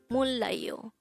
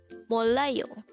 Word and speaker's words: 몰라요: Mollayo. This is pronounced as a 3-syllable word. The first syllable is mol, second syllable is la, the third syllable is yo. Pronounce it with me. Mollayo.